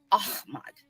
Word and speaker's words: Ahmad: I say it that way. I know that it sounds like if I'm not saying it the right way, some of the people that don't know that that's how you say it, they're going to think that I'm saying it wrong. But somebody had corrected me a long time ago. So I had somebody for biochemistry, and they're like, you say it, Ahmad.